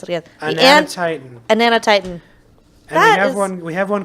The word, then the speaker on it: Anatitan: how do you pronounce it again? Anatitan.